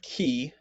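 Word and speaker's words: chi: phone next we have key key has the ch sound like in law there aren't too many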